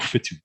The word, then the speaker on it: Witu: Nobody can pronounce my name, not even here in New Zealand. But it's actually pronounced Fitu, which is yeah. So, but everyone knows me as. It's a Maori name, you know.